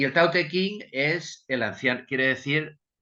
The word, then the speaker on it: Tao Te Ching: Entonces, aunque se pronuncia como antes, por ejemplo, el Tao Te Ching, aunque ahora se escribe Dao De Jing, se pronuncia Tao Te Ching.